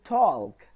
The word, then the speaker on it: talk: the first bullet point the letter L is silent in certain words like talk half there is no L sound in these words yes I'm not saying talk I'm not saying half I'm saying talk half I'm not saying calm